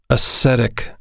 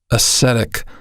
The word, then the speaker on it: ascetic: a case he must accurately ascertain what happened ascetic ascetic that's an adjective i'll spell it spelled a s c e t i